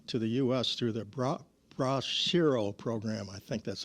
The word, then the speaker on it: Bracero: through the Bracero program.